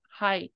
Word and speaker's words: 灰: But it's pronounced as hai, this kanji.